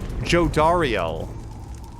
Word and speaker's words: Jodariel: Jodariel.